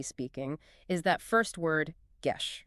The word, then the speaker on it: Geshe: When an English speaker sees G-E-S-H-E, convention dictates that we pronounce it with a hard G, like in get or guest, Geshe. Which roughly approximates the original Tibetan sound.